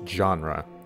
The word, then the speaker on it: genre: By the way, it's pronounced genre, Felix. Genre, right.